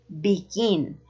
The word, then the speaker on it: begin: the acento in Spanish begin begin has the stress in the last syllable and you can see